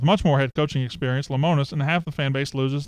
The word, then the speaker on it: Lemonis: no I have not WTVA Burnett pronounced it lemonis Sean Barker that's what I've been going with that's good still any